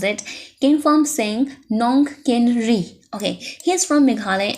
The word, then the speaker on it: Kynpham Singh Nongkynrih: How to pronounce it? Kynpham Singh Nongkynrih.